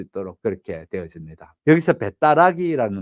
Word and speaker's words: 배따라기: 있도록 그렇게 되어집니다 여기서 배따라기 거는 배 떠나기는 말인데 그 배 떠나기는 말에 말이 다시 어떻게 바뀌어지는 거 하면 배따라기 바뀌어져서 편하게 발음할 수 있도록 돼 배 떠나기 이것보다 배따라기